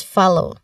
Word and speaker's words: follow: Now, the second O here, in second syllable low, that is a diphthong sound. O, like in go. So the stress is on the first syllable here. Fa. So that might be, that might be confusing to some, how we can pronounce properly this word, especially that same letter in this particular word has different pronunciation, which is the letter O, right?